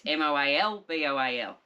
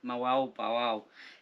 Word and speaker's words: Moalboal: It's Moalboal. Moalboal.